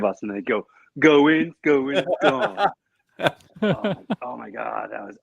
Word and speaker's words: Gaughan: My last name is spelled Gaughan. It's pronounced Gone, just like Vaughn, but with a G. And when I was in the Army, I got Gaghan, Galgan, and then my favorite was Gun.